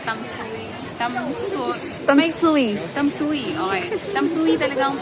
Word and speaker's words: Tamsui: kami dito sa tamsui Tams tamsui tamsui Okay tamsui talaga ang pronunciation niya ganun ta's ang daming ano dito